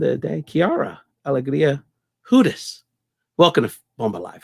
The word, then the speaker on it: Hudes: Yeah, but then you got to pivot and you got to go into like an Eastern European pronunciation, which is Hudes.